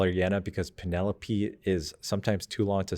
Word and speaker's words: Penelope: It's a strong P sound with the Ch sound, very strong name. And there was like a nice melodic flow with Penelope being a 4-syllable name, Penelope.